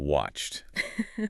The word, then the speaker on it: watched: Played sounds like pled and watched. This one is tricky. The source says it sounds like a t.